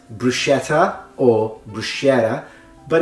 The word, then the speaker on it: bruschetta: as I was saying sometimes it's mispronounced bruschetta and other times it's mispronounced bruschetta obviously the latter usually it's a mispronunciation that happens either with Americans or with Australians the reason why is because usually Americans and Australians have a specific linguistic phenomenon when it comes to the pronunciation of tease in English that is called technically flapping and flapping is the